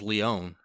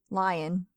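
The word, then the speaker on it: Lyonne: Because I always thought it was Leon. No, I'm pretty sure it's Lyons. There's no S. Lion.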